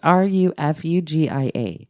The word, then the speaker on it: Refugia: And this time he married a girl named Refugia. Would you say that's how you pronounce it? Yeah. Right now, just go ahead, write in. Tell me how stupid I am. It's Rufugia.